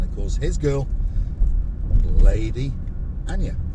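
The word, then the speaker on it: Aina: So hopefully we're going to bump into Sir Dave, and of course his girl, Lady Anya. I think that's how you say it, A-I-N-A.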